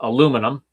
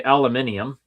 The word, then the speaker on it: aluminium: We pronounce it in Canada aluminum. In Britain they say aluminium and I'm pretty sure United States is aluminum as well. Yeah.